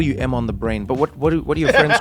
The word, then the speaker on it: EmOnTheBrain: No, at least you got it right because a lot of people think it's like EmOntheBrain. They think my name's Emon. Yeah. It's a common misconception. Why? So, because it's spelled EmOnthe brain. I mean, it just seems... Logical that it would be M on the brain.